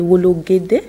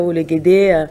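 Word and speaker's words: Wologuèdè: la clôture auront lieu à Canal Olympia, c'est Wologede. C'est bien ça, voilà. Là, vous prononcez si bien. Voilà, Canal Olympia, Wologede.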